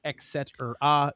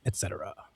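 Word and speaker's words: et cetera: Three syllables, Latin, there is no x. It is not excetera nor is it excetera. It is etcetera.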